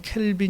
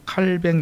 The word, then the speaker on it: 칼뱅: 칼빈의 예정론 제가 얘기했는데 칼빈 또는 켈빈 이라고 하는 이 예 정도는 원래 이제 칼빈은 게 그들의 바람 쓰시 발음으로는 칼뱅 이라고 합니다 칼 맺는 짠 칼뱅